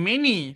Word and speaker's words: many: Kalau nampak ni bunyi tak dia takkanlah bunyi my kan dia mesti bunyi mani. So nampak aje m a n y hafal a bunyinya adalah many.